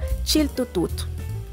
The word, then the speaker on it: chiltota: las familias es más conocida como chiltota que en Náhuatl se pronuncia chiltutu por lo general son